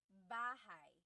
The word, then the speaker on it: bahay: So, house in Tagalog is bahay.